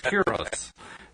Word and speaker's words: gyros: Well, I call it like I do a gyro. It's a gyro or a hero, but the Greek pronunciation is gyros.